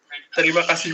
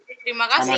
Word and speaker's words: terima kasih: Terima kasih Jose. Terima kasih, Yaya. Terima kasih. Sama-sama. Sama-sama, people. And when you say terima kasih, okay, the appropriate response to that would be Tik.